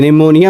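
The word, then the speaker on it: pneumonia: बार मैंने समझाया है कि निमोनिया में जो पी होता है वो साइलेंट होता है।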